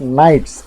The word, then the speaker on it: knight: The day of nights. You see, K is silent. K night. It is not K night, it is nights.